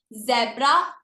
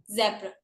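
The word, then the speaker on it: zebra: आई am repeating again, जेब्रा गलत word है, जेब्रा, हल्का सा एच का साउंड आता है, जेब्रा।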